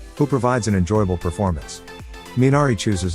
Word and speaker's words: Minari: eight ninari getting back to the original it's pronounced minari it's a weed that purifies the ground and